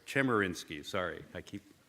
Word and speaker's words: Chemerinsky: the Erwin German insky did I they're right Chemerinsky sorry I keep mispronouncing his name he doesn't eat said he